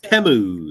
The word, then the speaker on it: Temu: having good Lu uh it's not it's temu is it temu yeah they say it in the ads like that temu it's you hear that Mike it's temu teu so if you're saying it wrong you're saying it wrong